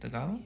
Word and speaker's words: Tagalog: Tagalog? Is that how you say it? Tagalog?